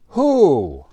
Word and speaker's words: who: do you live with who we don't pronounce the w we are asking which